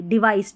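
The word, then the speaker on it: device: वी आई सी ई डिवाइस Divi's नहीं पढ़ना है डिवाइस अ प्रो पी आर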